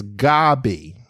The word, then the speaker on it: Gaby: spelled my name wrong I only have one B it's g a b y I understand I understand that's that seems to be tle typical but it's it's Gabby so Gabby is two